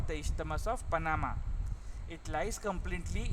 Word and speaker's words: Isthmus: The pronunciation is Isthmus of Panama.